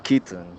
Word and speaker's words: kitten: suena como la N al final.